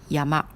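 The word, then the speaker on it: 山: et en couille omis c'est à dire la prononciation d'origine japonaise on lit comme yamaha et si quelqu'un dit yama les japonais comprennent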